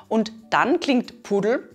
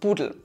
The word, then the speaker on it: pudel: This is because we often pronounce consonants like P, T, or K in a softer way in dialect , so "pudel" sounds like "budel" or the name Peter often sounds like "Beda" in dialect.